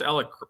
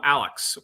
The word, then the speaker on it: Alec: You pronounced Alec properly. Yeah, she did. That's right. And how many times did your girls call him Alex this week?